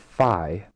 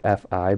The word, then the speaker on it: phi: And then uh this new Greek symbol is called fi pronounced fi but written as phi.